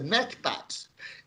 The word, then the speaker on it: MCPAD: So we wrote a model which we call MCPAD, and we pronounce that in our in Portuguese as a MACPAD.